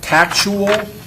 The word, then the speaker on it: tactual: Tactual, is that the way you say it? Is that Correct. the way it's pronounced?